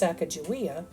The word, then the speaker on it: Sacagawea: Sacagawea, oftentimes pronounced Sacagawea, is the indigenous woman who accompanied the Lewis and Clark expedition as a guide.